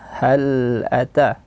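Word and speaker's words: هل أتاك: Hal ata ha ata itu salah satu kesalahannya. tidak boleh diqalqahkan. Bacaan yang benar adalah hal ata bunyikan bainiah lam ataka ata di sini dua harakat mad thobi hal ataka hadituah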